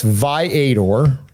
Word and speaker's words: Viator: if you- No, it's Viator. Highly recommended if you're Violator. The B is silent.